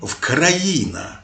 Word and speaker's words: Україна: Шевченка, де вказували, що вимоволо залежить від того, на яку літеру закінчується попереднє слово. Якщо на голосну, то українці промовляли вкраїна, на вкраїну. А якщо на приголосну, наприклад, з, то писали з України.